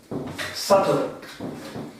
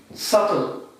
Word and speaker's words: subtle: Subtle, or the pronunciation of this is this. Subtle. Subtle.